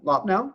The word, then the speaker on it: Loppnow: welcome, John Loppnow, right? Did I Yep.